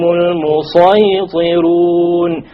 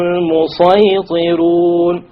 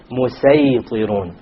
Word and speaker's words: الْمُصَيْطِرُونَ: It is better to pronounce it as a sad.